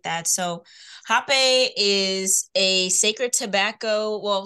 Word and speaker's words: rapé: And sometimes it's spelled RAPE with an with an accent over the E, rapé or hape.